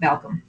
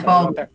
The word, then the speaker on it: Balkcom: And just to clarify, it's Balkcom, not Balkcom. Oh, okay. It's like Balkcom. Always like, pronouncing people's names is always the toughest part for me in the beginning. You know, it's like Baldwin.